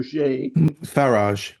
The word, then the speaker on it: Farage: I always mispronounce the name. Not Faber. Farage. Farrage, right? Farage.